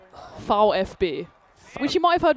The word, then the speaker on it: VfB: When it's an individual letter, German gets fun. Yeah. A V is a foul. Foul FB which you might have heard before because Fish Dukgat is the football team.